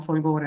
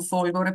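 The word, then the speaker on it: Folgóre: partiamo dicendo che Folgore che io chiamo Folgore non Folgore perché c'è una scelta precisa in quanto dagli anni 30 del 900 Si è pensato che fosse meglio con questo accento in quanto vuol dire fulgido fulgido Cavaliere fulgido poeta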